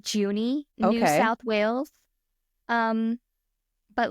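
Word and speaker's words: Junee: how to pronounce this place I've been saying juny New South Wales um but let me double check that that pronunciation is correct before I juny ha okay then we're fine um so it's located in juny New South Wales and it is widely regarded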